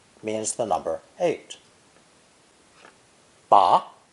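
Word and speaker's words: 拔: means the number eight ba pronounced with a rising tone ba means to pull out or extract ba with a low dipping tone ba means to grasp something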